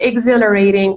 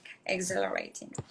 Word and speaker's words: exhilarating: and i don't know how should i pronounce h yeah here it's silent exhilarating we do not pronounce it okay exhilarating number four no number